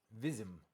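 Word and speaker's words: Wyzim: Beyond the lake, the distant lights of Wism twinkled. Vism, I think the W is pronounced with a V.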